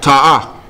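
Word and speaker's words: תעה: Ta'ah. Oh, ta'ah. Same word as ra'ah. Same pronunciation, just a T instead of a R.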